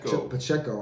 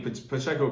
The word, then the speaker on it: Pacheco: Pacheco.